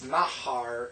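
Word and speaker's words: נהר: It's very similar to Na'ar, but it's Nahar, and it's river.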